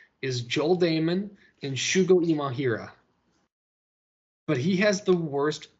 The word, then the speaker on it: Imahira: But I think the only guy that I really want to stick my name to at 6,900 is Imahira. Wow, I just mispronounced it again. Imahira. Oh, I pronounced it right.